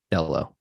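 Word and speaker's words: Delo: Dello.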